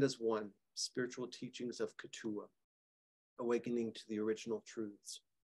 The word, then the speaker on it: Keetoowah: it's titled Stand as One, Spiritual Teachings of Ketua, Awakening to the Original Truths. And just as a footnote, Ketua there, it looks like Ketua, but it's pronounced Ketua.